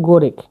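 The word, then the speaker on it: gorak: তেত তেত বা তেতুয়া তেত তেতকে বলা হচ্ছে গরেক গরেক গরেক মানে হল তেত জি ও জি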